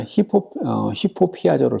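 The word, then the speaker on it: ὑπωπιάζω: 그래서 여기서 헬라어 단어 히포피아조를 쓰고 있어요. 여러분들 입실론에다가 격음 붙이기 때문에 여기서 이제 히읗 발음이 나요.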